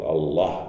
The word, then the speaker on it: Allah: this vowel as well it's the only el in arabic that stands by itself that has that dark pronunciation answer puzzle and some